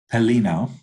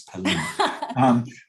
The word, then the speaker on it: Pelino: in community-based services, Pelino, right? Did I get it right? Correct. Close. Correct. Okay. I was gonna add one more syllable in there, but I know it's Pelino.